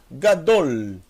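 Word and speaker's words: גדול: Eu tenho o Gimel, som de G, mais A. Essa é a primeira sílaba. E a segunda sílaba, são duas sílabas apenas. É o Dalet, mais o Rolevav, mais o L, o Lamed. Então eu tenho Gadol, Gadol.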